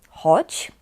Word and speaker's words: chodź: Mówimy te dwa słowa tak samo, chodź, ale chodź tutaj piszemy tak, przez dzi na końcu, d i z z kreską, bo dzi na końcu słowa często czytamy jak ci.